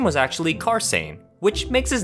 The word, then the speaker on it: Carsein: i thought his name was supposed to be pronounced carson instead but that would make his name sian